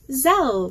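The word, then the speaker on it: Zelle: know I explain all that do you have zel which I don't even know how to say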